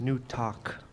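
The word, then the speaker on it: Newtok: two advisors board recognizes newtek it's pronounced new talk sorry i'm john kasaeli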